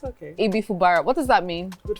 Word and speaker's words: Ibifubara: Did I pronounce that properly? Fubara. Ibifubara. I'm sorry. It's okay. Ibifubara.